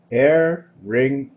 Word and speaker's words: aerenchyma: And the word is spelled aerenchyma. It's aerenchyma.